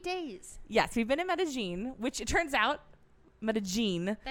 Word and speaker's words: Medellín: here for eight days yes we've been in meta-gene which it turns out but a gene that's how you pronounce it if you say med mein no no meta meta gene and if it's Medellin you're pronouncing it like a filthy Argentinean yes